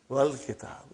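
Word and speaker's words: wal-kitab: When it came in front of Hamzatul Wasal, you did not pronounce. You will say, wal kitab.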